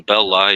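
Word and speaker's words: Belli: maybe go no Melvin belly sounds so much better but did he actually pronounce it belly like that's what people say that that's the closest way to the way he said it but I just think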